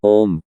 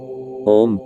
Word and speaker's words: ओम: जो आगे बढ़ता है ओम की ध्वनि तीन ध्वनियों से मिलकर बनी है अ उ और मा इन तीन ध्वनियों का